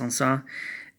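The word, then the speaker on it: Saint-Saëns: like Saint Saens with the - but it's pronounced on saw si I and T - si es que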